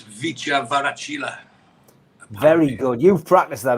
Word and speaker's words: Kvaratskhelia: I spoke to someone about how to pronounce it, and apparently you don't pronounce the K. Oh. So it's Kvaratskhelia.